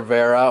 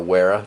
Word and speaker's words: Wera: I'm a big fan of the other Vera, or Wera, depends where you're born, how you pronounce that.